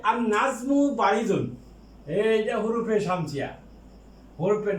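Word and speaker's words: النجم: লাম যুক্ত হয় তখন আর নাজমু, এই যে নুন, এই নুনটা হুরুফে শামসিয়া। এই হুরুফে শামসিয়া যদি হয় তাহলে লামের উচ্চারণ হবে না।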